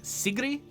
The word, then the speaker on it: Sigrid: favorite Norwegian pop star I think technically it's pronounced like Sigrid or something like that um but uh I speak English and I don't think I can do a good job of consistently getting the Norwegian pronunciation right so uh let's let's